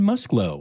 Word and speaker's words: Musklow: But no, it's Karen Musklow.